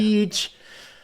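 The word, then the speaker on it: Teeech: Teach. I just say teach.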